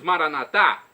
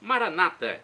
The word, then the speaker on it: Maranata: E agora eu clamo do aramaico, como dizemos nós católicos, Maranatá, ou como dizem nossos irmãos separados, os evangélicos ou protestantes, Maranata. Não importa a pronúncia, o significado é o mesmo.